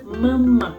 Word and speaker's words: memek: Jangan sampai salah karena dibacanya adalah memek, bukan pakai ya pakai itu maksudnya bukan dibaca me, dibacanya itu me.